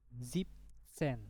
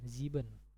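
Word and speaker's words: siebzehn: Jadi bacanya Zeksen. Zeksen. Nah, ini Zipsen. Nah, di sini kan ada en kan? Harusnya Ziben.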